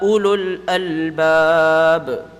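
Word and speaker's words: أولو الألباب: It's illa and then u and then albab. So you have to make sure you pronounce all of the a. Illa ulul albab.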